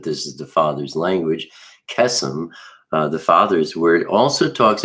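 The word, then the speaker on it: קסם: We can see that in Strong's number H7081, and it's kesem. And it comes from the root H7080, which is kasam. And they're both spelled exactly the same. They're just pronounced a little bit differently.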